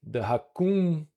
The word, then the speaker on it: Hakoon: And the Hakoon from Hakoon Games is actually the way Brazilians say raccoon.